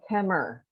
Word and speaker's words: Kemmerer: And her mother, I believe, lives at South Lincoln Nursing Center in, help me pronounce it. Kemmer. You just say Kemmer, That's right?